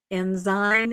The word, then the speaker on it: Ensign: of the membership would actually know how to pronounce the name of the magazine correctly. Enzyme Enzen.